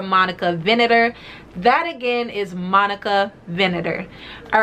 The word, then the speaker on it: Monica Vinader: first i have an amazing partnership today with monica vanetta hi guys editing monroe here from the future just popping in to let you all know the proper pronunciation for monica venator that again is monica vinator all right guys back to the video thanks